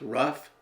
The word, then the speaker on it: rough: sound in these words rough Tough Enough all contain an F sound the o u g